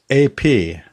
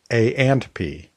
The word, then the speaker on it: A&P: By the way, the invocation phrase that you need to use with Alexa does not pronounce the ampersand, that little and symbol in the podcast name. So it's AP, not A and P.